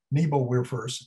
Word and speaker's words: Nebelwerfer: Now, for the first time, they got the German Nebelwerfers, that's the English pronunciation, known as screaming Mimis.